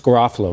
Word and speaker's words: Garofalo: It's Garofalo.